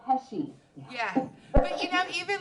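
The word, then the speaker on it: Pesci: Dad what about that Joe pesky no it's Joe pesy yeah but you know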